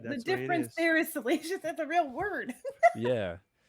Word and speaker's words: Salacious: Toy Migos, and someone asked me how to pronounce salacious. I'm like, Salacious Crumb, and you were saying Silicious.